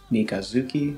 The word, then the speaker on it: みかづき: Mikazuki no Mai. Tsuki is moon. When putting Mika in front of Tsuki, the combination means crescent moon. The Tsu becomes a Zu because of a concept called Rendaku.